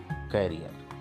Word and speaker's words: career: अब आप देखिए, आपके सामने दो विकल्प हैं, एक है करियर और एक है कैरियर। इस मीनिंग का सही प्रोनाउंस है करियर।